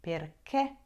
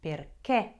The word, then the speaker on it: perché: sure will use is perché. Be careful how you say it. There is an accent on that last little letter, and you have to say that and pronounce it correctly. Perché.